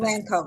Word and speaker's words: Elanco: For the global and IDN talent strategy at Is it Elanco or Elanco? How do you pronounce it? Elanco, yes. Elanco.